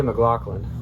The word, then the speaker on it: McLaughlin: I always thought it was Jay McLaughlin.